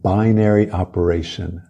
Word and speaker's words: binary: Binary operation. Pronúncia binary, não binary, binary. Então vamos lá.